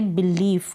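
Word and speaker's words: belief: जैसे कि ये पहली स्पेलिंग है बिलीफ। क्या है? बिलीफ। यहाँ पर बीच में आई ई है, उसको हम बड़ी के रूप में पढ़ रहे हैं।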